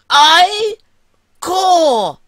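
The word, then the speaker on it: ichor: magical iore that's pronounced I core like a quad core only slower indeed I you could say so choose your ey core wisely Choose Wisely okay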